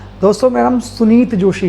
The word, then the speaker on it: सुनीत: मेरा नाम है सुनीत जोशी और आप सभी का स्वागत है मेरे YouTube channel sunshine pig farming में। दोस्तों, मेरा नाम सुनीत जोशी है, SUNEETJOSHI। कई लोग पुनीत बोलते हैं, कई लोग सुनील बोलते हैं, ठीक है।